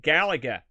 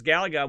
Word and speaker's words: Galaga: here there you go and then i can pronounce the other one gallagher now he played some galaxy oh no it's